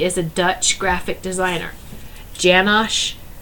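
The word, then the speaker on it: Janosh: a Dutch graphic designer janash it's like Jan with Ash at the end Uh janash u a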